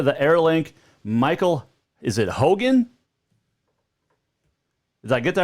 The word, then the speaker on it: Hougen: joined now via the airlink michael is it hogan did i get that right yes nice um